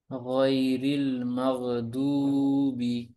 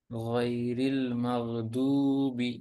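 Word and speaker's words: غَيْرِ الْمَغْضُوبِ: রাহমাতুল্লাহ জি মাহফুজ ভাই গাইরিল মাগদুবি এখানে গাইন মোটা হবে তারপর লিনের হরফ আছে নরম করে পড়তে হবে কোন টান হবে না জির রিল জি এটা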